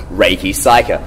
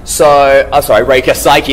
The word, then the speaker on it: Reika Saiki: The problem is because in Japanese you say Saiki Reika. Yeah. And then you say Reika Saiki. Hence I always get my I and A switcherooed.